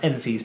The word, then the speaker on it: Enfys: said, to understand who Enfys Nest is, that's pronounced Enfys, by the way.